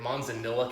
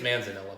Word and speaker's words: Manzanilla: gonna prod butcher here Manzanillo cast which is a type of sherry we have been trying to figure out exactly how to say this correctly in mono and I think it's Manzanilla but Manzanilla care yourself